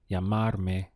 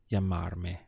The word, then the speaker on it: llamarme: Let's go through the syllables. We have ya, mar, me. Llamarme would be to call me.